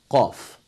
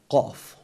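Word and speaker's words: ق: The next letter, that is letter qaf. Of course, qaf is one of the Lahawi letters, and we use the uvula for the pronunciation of this letter.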